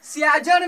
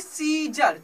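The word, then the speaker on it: Caesar: ठीक है, सीजर, यहाँ पे सियाजर नहीं पढ़ रहे हैं। सी ई के आगे क्या है, ए, ई के आगे क्या है, ए साइलेंट है, तो इससे क्या पढ़ेंगे, सीजर।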